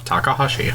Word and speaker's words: Takahashi: Takahashi. Takahashi, okay. I'm always, like, nervous about pronouncing Japanese names, especially when I stutter and slur.